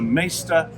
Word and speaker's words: Maighstir: it is it's the maester Edition m it's like Master that's exactly what it